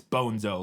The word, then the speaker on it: Bonzo: Like, he mispronounced the name and somebody corrects him and says, no, it's Bonzo, like bone and zo, or I don't know, whatever.